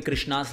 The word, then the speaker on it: Krishna: it already it is Maharani by Krishna so Krishna that's how you say it okay number seven